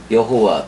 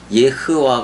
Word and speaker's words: יהוה: 여호와 또는 야하외해 뭐 이렇게 되고 원래 여호와는 예허와 제일 정확한 거예요. 예허와 발음상으로 제일 정확해고 그다음에 이제 그 오면서